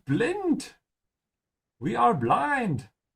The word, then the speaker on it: blind: how it looks V blint we are blind two words that look exactly the same but are pronounced quite differently so put the effort in and say blind instead of saying it in English oh here we come